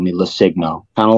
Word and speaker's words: LoCigno: My last name is LoCigno. The G is silent. So that being, I just kind of needed the name Lucino because you can't say Lusigno.